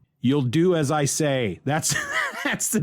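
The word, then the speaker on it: Yooldoo Azaye: see it to understand it's y-o-o-l-d-o-o a-z-a-y-e you'll do as i say that's that's the name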